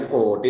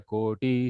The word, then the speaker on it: koti: Be a little careful while you are pronouncing koti. It should be koti, not koti. Okay.